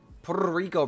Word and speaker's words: Puerto Rico: You have to roll your Rs when you say Puerto Rico. Puerto Rico, bro.